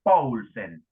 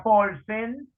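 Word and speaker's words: Paulsen: La que adoptó el negro, Jorge Luis, se llama Siciliana Poulsen, como el jugador del siglo XIX que jugaba en la época de Morphy. Se escribe P-A-U-L-S-E-N.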